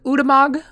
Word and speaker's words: Ulamog: It's pronounced Udamog.